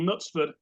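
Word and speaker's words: Knutsford: in a little town called nutsford and spelled with a K uh and it's actually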